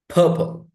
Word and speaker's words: purple: Purple. Purple. It's not purple.